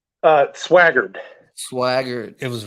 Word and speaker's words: Swaggered: how do you say your last name uh swaggard swagger it was right you were right yeah